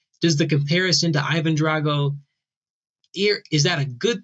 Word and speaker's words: Drago: My uh heritage is Sicilian, so it's pronounced Drago for me, Drago for a Russian, but I don't take offense when people pronounce it the wrong way.